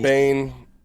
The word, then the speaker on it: Biehn: Bain.